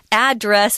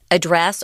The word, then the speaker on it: address: of course is the the pronunciation is address it has to be address the noun verb or the noun form of this word can be either a dress or a dress indeed you can start